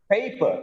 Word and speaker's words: paper: Paper, not just paper. I have a paper sheet. Paper sheet. Paper. Paper becomes longer also because it's a stressed syllable, right?